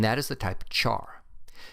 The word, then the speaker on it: char: is the type of char you may hear people pronounce it as type care since it is short for character but I've always pronounced